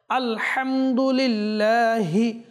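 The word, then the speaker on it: الحمد لله: শুদ্ধ ভাবে উচ্চারণ হয় আলহামদুলিল্লাহি হা এটা পড়তে গিয়ে হাও অনেক সময় সুস্পষ্ট যেটা হওয়া উচিত স্পষ্টভাবে সেটা হয় না লিল্লাহি লিল্লাহি আপনার যদি উচ্চারণ না হয় আপনি বারবার বারবার অনুশীলন করুন ইনশাআল্লাহ কারীম সহি শুদ্ধ হয়ে যাবে লিল্লাহি লিল্লাহি রব্বিল আলামিন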